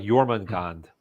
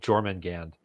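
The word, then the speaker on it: Jörmungandr: one that I knew like yormon Gand and people were saying German Gand um I've been I've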